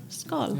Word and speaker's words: Skål: Skål. Yeah, skål. Skål. Skål, Which also means with the D. bowl, a bowl, like a bowl. A bowl? A bowl. Yeah. Skål.